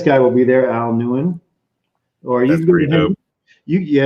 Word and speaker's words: Nguyen: KNEW and then Wen. WHEN, and that's actually the pronunciation of his last name. His name is Al Nguyen, and Nguyen.